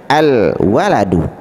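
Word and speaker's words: الولد: fakir ya atau miskin Nah kalau ini jelas tidak boleh kita tidak kita baca lift lamnya jelas Al ya alwaladul Ini cara baca ya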